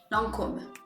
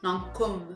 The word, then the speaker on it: Lancôme: Then we have Lancôme, or as we actually say in French, Lancôme. Yeah. So you want to make sure that that O, it's really an O sound, Lancôme.